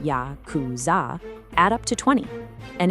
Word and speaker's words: Yakuza: The numbers 8, 9, and three, which are pronounced ya kuz zah, add up to 20.